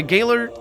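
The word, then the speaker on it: gaoler: she died when my galer brought actually it's pronounced jailor i think uh brought the joyous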